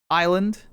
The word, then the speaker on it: island: Now we have the silent s in island yep.